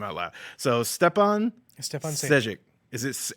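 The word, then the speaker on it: Šejić: I heard it was Sage. Like, he actually put a pronunciation on his Twitter. Stefan It's Sage. Yeah, Sajic. but he leaves the IC off. He just Sage? He says it's how you Sean Connery would pronounce his name, and I'm like, oh, Sage.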